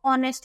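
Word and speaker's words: honest: एच वाली sound जा इसमें ए साइलेंट होता है और ऐसा लगता है कि जैसे हम ऑनेस्ट बोल रहे हैं ओ वाली साउंड आ रही है ओ होता है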